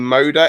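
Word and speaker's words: Moder: um the poland go i think they pronounced his name moda m-o-d-e-r i think he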